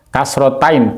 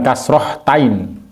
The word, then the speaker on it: kasrotain: tanwin atau fathatain, kemudian kasrotain atau kasroh tanwin, atau dhammatain atau dhammah tanwin ya. Jadi jangan salah menyebutkan kasrotain, bukan kasrohtain, tapi kasrotain atau kasroh tanwin. Ini yang benar ya.